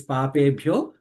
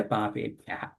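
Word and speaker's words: पापेभ्यः: So that's why, whereas it is papebhyo, we should say papebhyah.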